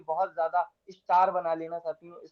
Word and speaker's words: Z: इसको करेंगे सेट। ये क्या हो जाएगा? सेट। हल्का सा इसमें भी टी साउंड आएगा, बट ये क्या हो जाएगा?